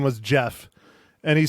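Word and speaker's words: Geoff: have said that okay yeah it's Jeff g e o f f it's Jeff not g off oh Mike oh oh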